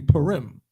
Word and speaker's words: Purim: The day of Purim.